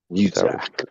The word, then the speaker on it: Muzak: Muzak.